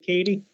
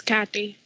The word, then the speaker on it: Kathy: okay foreign Katie am I pronouncing your name right is it Katie it's Kathy it's Kathy oh okay Works comes